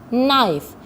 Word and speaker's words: knife: Another words like no, knee, knife. Here the K letter is silent.